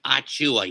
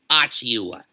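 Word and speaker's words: Achiuwa: you, but it's pronounced Achua. You don't have to pronounce it as Achua. The I is fucking silent, you son of a bitch.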